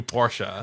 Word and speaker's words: Porsche: i've noticed you do the german pronunciation of porsche right like you do porsha i i mean i say again the only reason is because i like i actually thought it was just porsche until i heard a